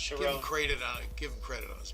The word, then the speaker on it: Sharon: Sharon is how his last name's Ah, pronounced. Sharon.